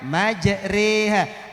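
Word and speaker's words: مجراها: Nah Kak Dinto Ustadz, Gharaibul Quran itu Bapak Ibu ditulisan dan cara bacananya tidak sama. Bersitung materinya mana Bu itu lesan Kak Disa Bapak Ibu majroha, tapi cara bacanya majreha.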